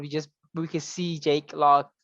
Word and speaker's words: Jake Lockley: When I kind of was hoping like the last, that scene would be just we could see Jake Lock. Is that how you say it? Jake Lockley? Jake Lockley.